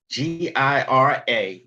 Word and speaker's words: Gira: That Gira is actually spelled like it's actually pronounced. The G is pronounced like a J.